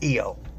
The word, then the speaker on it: Iyo: IO IO. One of these days I'm going to remember it's IO. As much as I love her, I always pronounce her name wrong.